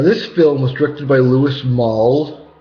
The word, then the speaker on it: Louis Malle: film was directed by louis maul uh you know that's how you pronounce his name but it was um